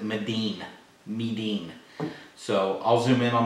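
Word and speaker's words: 味醂: It's called Marin in English, but in the Asians pronounce it Medin.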